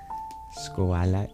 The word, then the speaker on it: Shkola: Skoala, it is perfect, pronounced that way?